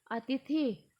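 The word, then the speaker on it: अतिथिः: और थ पे हलंत और उसमें भी छोटी ई की मात्रा है, तो अतिथि। और अंत में विसर्ग दिए गए हैं, तो विसर्ग का उच्चारण क्या होता है? अह। तो ये हो गया अतिथि।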